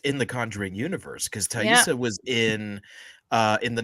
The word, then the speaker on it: Taissa: that much attention so just now hearing you say taissa i'm like yep yep it's been pronouncing that wrong until this very moment i i think it's either taissa or tesa no it's not isa i thought it was thais but it's definitely not is theresa it's not